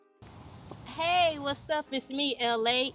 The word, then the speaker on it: Elay: hey what's up is me Elay pronounced like L.A. like the city I'm not the from